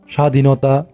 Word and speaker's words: স্বাধীনতা: নিয়ম 2 আমরা বলতে পারি শব্দের শুরুতে ব্যঞ্জন বর্ণের গোড়ায় ব ফলা আসলে ব এর উচ্চারণ হয় না। যেমন উদাহরণস্বরূপ আমরা বলতে পারি স্বাধীনতা, জ্বালানি, স্বদেশ ইত্যাদি।